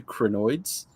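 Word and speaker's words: Krynoids: I've heard of the Crinoids.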